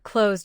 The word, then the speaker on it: closed: Compare closed with kissed. Close ends with a voice Z sound, so closed finishes with D.